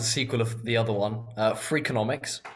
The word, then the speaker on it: Freakonomics: The two books, that one's a sequel of the other one, Freakonomics, which is spelt freak like FREAK, onomics like economics, and then there's Super Freakonomics, which is the next one.